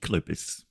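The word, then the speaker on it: Κύκλωπες: Well, um, so Cyclops properly pronounced in Greek Kalupus.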